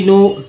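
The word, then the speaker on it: know: अब यही चीज़ है कि भाई जब सिर्फ एन और डब्ल्यू था तो नाउ उच्चारण कर रहे थे, जैसे ही के आ गया तो नो उच्चारण हो रहा है।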